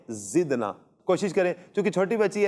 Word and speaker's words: زدنا: اچھا، یہ پیاری بچی یہ ذکر نہ پڑھ رہی ہے، کاف نہیں ہے، یہ دال ہے زدنا۔ کوشش کریں, چونکہ چھوٹی